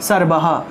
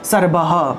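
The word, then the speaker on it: সর্বঃ: করব, আর কোনো একটা শব্দের শেষে যদি বিসর্গ থাকে তাহলে পূর্ণরূপে সর্বহ সর্বহ অর্থাৎ পূর্ণরূপে হটা উচ্চারণ হবে, ঠিক আছে।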